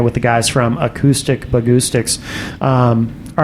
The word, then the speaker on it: Bahgoostyx: It just Bahgoostyx rhymes with acoustics.